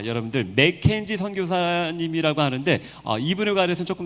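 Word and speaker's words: McKenzie: 속도를 좀 내보겠습니다 아 맥켄지 선교사님 있데 한국 사람들이 그 맥켄지 발음이 안 되죠 그래서 매견 이렇게 발음이 된답니다 아 특별히 여기 반투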